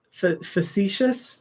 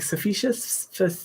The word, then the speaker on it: facetious: mean to sound like facetious that's how you pronounce it i was like sufficious facetious um just spend less